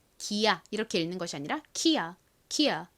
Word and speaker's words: Kia: 소리가 나기 때문에 기야 이렇게 읽는 것이 아니라 키아 키아 뭐 이런 식으로 읽을 확률이 높고요이라고 써도이가